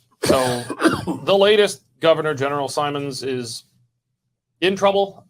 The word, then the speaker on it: Simon: So the latest governor general, Simons, is in trouble. Simons, right? That's how you say it? Simon. Mary Simon.